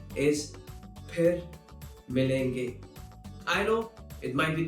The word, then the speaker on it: फिर मिलेंगे: So, most of the times, people will use f instead of its right pronunciation, which is ph. So, if you hear someone saying fir milenge, that is incorrect. The correct pronunciation is phir milenge.